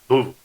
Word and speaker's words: Louisville: Louisville.